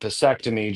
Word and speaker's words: Pissectomy: And I had had an idea for one called Pissectomy, just because I thought vasectomy, oh, what rhymes with that? Oh, pissectomy. Okay, great.